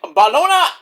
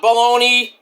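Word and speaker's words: Bologna: All right, let's get to Smackdown from the Unipo Alina in Bologona, Italy. Not Bologn.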